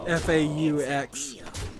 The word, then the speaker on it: faux: it said Fox News, FAUX News. So they're making fun of Fox News there too. Faux news, it would be the right way to pronounce that. FAUX.